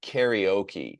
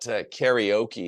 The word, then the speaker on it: karaoke: So let's practice the pronunciation. Um karaoke is how we say it in English. I find that a really terrible version. I know some people say my karaoke or something. You might give more presence to the vowels, but karaoke is how we say it in English. I'm not proud of that pronunciation by the way.